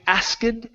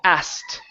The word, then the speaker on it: asked: remember this word here instead of saying ask this is asked okay can we write on it he asked he asked okay pronounce the T at the end he asked he ask